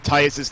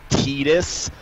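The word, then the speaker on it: Tidus: The generally accepted generally accepted pronunciation of Titus's name is actually Titus, since it was pronounced like that in KH1 as well as the Dissidia games. But it's funny because in KH2 it's actually pronounced as Titus the one time his name's uttered.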